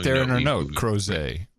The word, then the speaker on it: Crozet: Crozet. Rhymes with Jose. It's French, you boneheads.